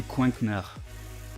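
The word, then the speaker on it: Coinknard: de la chaîne c'est Coinknar. Il me semble que c'est à peu près comme ça que ça se prononce. Ouais, c'est ça, Coink. C-O-I-N-K et N-A-R-D, comme un canard, mais avec un coink.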